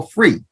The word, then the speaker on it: FURE: way I was like well free if you really pronounce it it's free yeah are you gonna